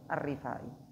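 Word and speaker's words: Ar-Rifa'i: waa alihi wasohbihi wasallam bacanya pakai RO kasrahnya rnya apa kasrah arifai beliau adalah Tajul Arifin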